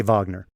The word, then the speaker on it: Wagner: a public face of the Wagner Vagner Wagner I don't know how you want to pronounce it I say Vagner the Vagner group that are mercenaries and